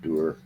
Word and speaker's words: dour: He just looks dour. Dur. It's pronounced Dur.